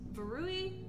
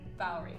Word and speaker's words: Valerie: And that was Verui? Verulri? Joe, how do you pronounce that name? Valerie. We're going with the official Joe pronunciation, which is Valerie.